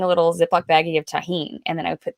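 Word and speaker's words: Tajín: Have you had tahine?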